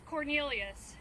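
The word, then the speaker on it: Quornelius: The first name is Cornelius. It's spelled Q-U-O-R-N-E-L-I-U-S.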